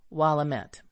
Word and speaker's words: Willamette: the last one, thus Willamette. The letters met not to be pronounced me, as in the French bouquet, but as met, as in the French word gazette.